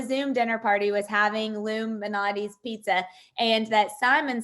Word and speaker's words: Lou Malnati's: Lou Malnati's pizza.